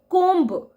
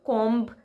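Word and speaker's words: comb: आप लोग करते हैं जैसे कोम बी साइलेंट होता है हमें कों नहीं बोलना चाहिए कंघा कंघी जो आप लोग यूज करते हैं उसका सही प्रोनंसिएशन कोम नहीं है बल्कि कोम है कोम बी इज साइलेंट कोम बहुत ऐसे प्रोनंसिएशन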